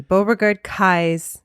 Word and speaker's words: Beauregard-Keyes: Orleans episodes and uh you did pronounce that um Beauregard Kai right or Kai I think I did I you know what I but yes that's what it should be Beauregard Kai's yeah house and a lot